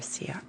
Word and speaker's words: Sierra: But I forget, is it Sierra or Sierra? It is Sierra. I think I'm confident. I think you spelled out S-E-A. Sierra, right?